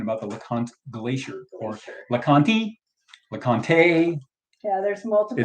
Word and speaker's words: LeConte: in 1962, talking about the LeConte Glacier, or LeConte, LeConte. Yeah, there's multiple. It's L-E, capital C-O-N-T-E, and the correct pronunciation is LeConte.